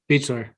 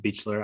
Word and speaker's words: Baechler: How is it pronounced? Beechler. It's spelled Baechler, though. Yeah, I think it's still pronounced Beechler.